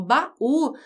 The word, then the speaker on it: baú: E aí o estudante pode olhar aqui para a palavra baú e pensar assim, bom, baú tem a última sílaba mais forte.